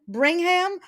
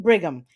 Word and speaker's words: Brigham: correct is it brian bringham or bringham how do we pronounce your name so no end so it's brigham like brigham young university bring them bring them brian brigham so thank you for